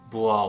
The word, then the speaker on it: Bois: I don't know if you're French, they say the right pronunciation is Bois with a silent S, so I'm going with that.